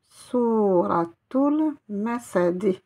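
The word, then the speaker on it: سورة المسد: La lettre T avec la lettre Lem. Souratul, vous voyez que je prononce bien le L. Souratul Masad.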